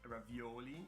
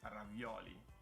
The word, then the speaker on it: ravioli: of work tortellini ravioli you guys put the accent on the wrong vowel it's not ravioli it's ravioli it's on the o ravioli uh so it's